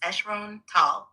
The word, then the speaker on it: Sirron Tal: My name is Sirron Tal, pronounced Echron Tall.